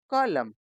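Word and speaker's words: column: एन इसमें जो आखिरी का एन है वह साइलेंट है तो यह क्या बन गया ऑटर्म नेक्स्ट सी ओ एल यू एम एन कॉलम एच वाई एम एन इसको हम पढ़ते हैं हिम।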